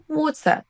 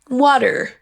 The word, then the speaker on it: water: Vous entendez qu'on entend un son choix à la fin et pas du tout de R comme on le ferait en français. Water. Water. Passons à l'accent US maintenant. Water, water on a en plus le t qui se transforme en son D, mais vous entendez que c'est un son choix water suivi d'un Roulé. Je vous laisse choisir l'un ou l'autre mais attention à ne pas dire water avec un R à la française.